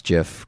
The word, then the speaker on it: GIF: yeah from that creepy gif online i love that you pronounce jiff correctly but i haven't seen